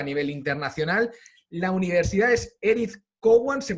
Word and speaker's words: Edith Cowan: el exterior a nivel internacional la universidad es edith cowan se pronuncia bien así están australia perfectamente está perfecto